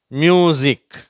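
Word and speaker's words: music: zip zoom zinc பஸில் busy சரியா இது எஸ் இருந்தா கூட தான் உச்சரிக்கிறோம் பிஸி அடுத்தது லேஸ மியூசிக் சரியா இதுல எஸ் இருக்கு ஆனா சவுண்ட்ல தான் சொல்லணும் மியூசிக் poison rose nose dessert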